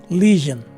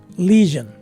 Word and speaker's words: lesion: swa sounding letter e so this word is pronounced as lesion again lesion this is our word number eight quite